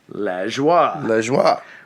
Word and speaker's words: Lajoie: It's not Lajoie. No, Lajoie. Give me a break.